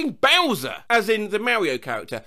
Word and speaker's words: Bowser: learned the correct pronunciation of persimmon i've been pronouncing it like the name of a digimon bowser as in the mario character my parents are